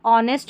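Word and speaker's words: honest: यह देखिए ऑनेस्ट है। ऑनेस्ट में एच साइलेंट है।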